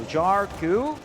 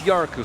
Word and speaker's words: Yaku: Jaru, I'm sorry. Am I pronouncing the name correctly? I do believe it's Yaku since he's finished.